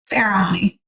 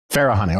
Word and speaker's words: Farahany: Farahany. Farahany, okay. Pretty much how it's spelled.